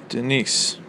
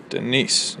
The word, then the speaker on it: Denise: one stressed syllable um like in the name Denise Denise you hear how the stress is on nce there you go that's